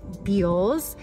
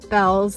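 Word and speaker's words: Bealls: on my pronunciation but b e a l LS is beels I just left beels not Bells if it was Belle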